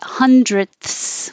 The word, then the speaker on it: hundredths: And hundredths with the th is perfect. So yes, you can keep the th, hundredths. However, you can take a shortcut and not make a good th and just make a t, hundredths.